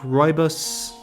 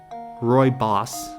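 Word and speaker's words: rooibos: did I just see as a fresh Leaf royos am I still pronouncing it right Roy boss my bad as a fresh Leaf Roy boss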